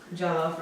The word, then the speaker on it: Jollof: Joff Rice. What? I'm just saying it wrong. Jollof rice.